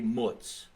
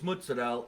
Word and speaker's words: mozzarella: I say it right I think it's Jersey to say mutts yeah that's very slang fresh mutts yeah but it's mozzarella and he was making